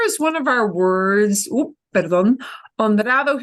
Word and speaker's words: honrado: Here's one of our words with an H that we don't pronounce. So the hard thing for us as English speakers is to remember that H's go silent all the time unless they're a CH combination.